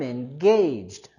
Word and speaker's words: engaged: Con engaged, en cambio, queremos subir la entonación en la segunda sílaba. I'm engaged.